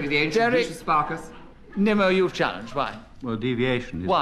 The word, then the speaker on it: Nimmo: The name is Nimmo, not Nemo. Oh, really?